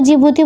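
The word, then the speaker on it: Djibouti: इधर की तरफ जिबूती पड़ता है, इसको जिबूती बोलते हैं, डी इसमें साइलेंट रहता है, ठीक है।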